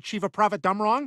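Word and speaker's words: Chevapravatdumrong: Cherry Chiva Prava Dumrong. That's how that name is pronounced.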